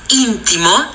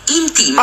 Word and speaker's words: intimo: Se hai detto intimo, no. Che quelle sono le mutande, sì. Mentre la prima persona del verbo intimare si pronuncia io intimo.